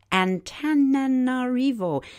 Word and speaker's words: Antananarivo: If you're living in and hearing this broadcast from this following city, we apologize for the attempt at pronouncing it. It's Antananarivo, spelled Antananarivo.